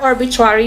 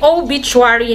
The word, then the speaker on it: obituary: ina-pronounce mo yung R, arbitrary yon. Parts of the magazine example, no? Okay, but the correct pronunciation is really obituary, not arbitrary.